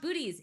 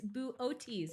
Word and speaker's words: Boötes: do you say booties it's not booties it's boo otis isn't it i call i mean